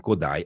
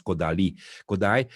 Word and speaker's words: Kodály: to be collected by Béla Bartók and Zoltán Kodály, or you pronounce Kodály, in the turn of the 20th century was absolutely not known by the urban people.